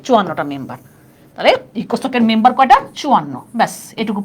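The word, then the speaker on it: ECOSOC: এই দেখো, এটাকে আমি সংক্ষেপে লিখব, দেখো ইকোনমিক and social council, ইকোসোক, ইকোসোক, ইকোনমিক and social council, ইকোসোক। দেখছো উচ্চারণ করি কি আমার, ইকোসোক, মানে সংক্ষেপে আমরা তাড়াতাড়ি উচ্চারণ করার জন্য বলি ইকোসোক।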